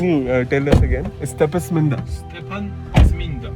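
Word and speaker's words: Stepantsminda: we are headed towards Stepasminda. Did I pronounce? No. He said, what? Can you tell us again? Stepasminda. Stepan Zminda. Stepansminda. Stepan like Stephen, and Zminda like Saint.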